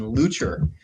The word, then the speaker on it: Leuchter: I was brought up with the pronunciation Leuchter, but I was quickly corrected by my German colleagues that no, that's not the right way to say it.